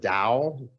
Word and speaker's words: Tao: the person that translated the dao but it's spelled t-a-o the dao which is